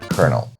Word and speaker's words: colonel: And my favorite one, colonel. Yeah, that's how you pronounce it, like corn.